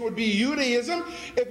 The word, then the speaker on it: Judaism: In this realm of theology or religion, whether it's Judaism, notice I pronounce it with a Y sound. That's the proper pronunciation. We call it Judaism, but there was no J until the 16th century on this planet.